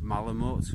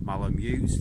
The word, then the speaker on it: malamute: so yeah there was aspects of malamute or malone muse depending on which way you want to pronounce it in case anybody tells me i'm pronouncing it wrong malamat to me that's a